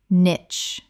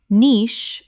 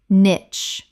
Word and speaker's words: niche: subtle subtle Word 98 niche Common mispronunciation nitch Correct pronunciation niche British or nitch. Both are accepted, but niche is standard in British English.